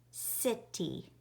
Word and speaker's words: city: All right, in the word city, the S sound is spelt with a C. It is spelt with a C, which is also called a soft C, because it is followed by an I, E, or Y.